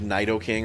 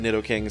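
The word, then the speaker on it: Nidoking: I know what - technically pronounce like Knight o king or something but I've always said Nitto King since I was a kid and it's really hard to break that habit so if that offends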